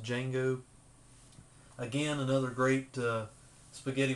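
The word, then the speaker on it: Django: Jango it's spelled with a d but it's pronounced d Jango again another great uh spaghetti western starring none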